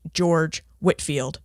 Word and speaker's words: George Whitefield: to correct that but his name is pronounced George Whitfield but spelled Whitefield now before we get